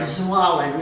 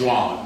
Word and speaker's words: Zwalen: Zwalen is how you say it. Zwalen.